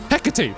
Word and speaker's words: Hecate: Hecate. Sorry, that's how you pronounce it.